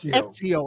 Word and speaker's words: Ezio: With a middle name like Ezio, when is Ezio? How do you pronounce that? It's pronounced like it pretend that there was a T after the E. So it's Ezio.